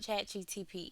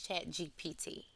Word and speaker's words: ChatGPT: you don't know what chat GTP is and I think I'm saying it wrong I think it's chat GPT it is generative pre-trained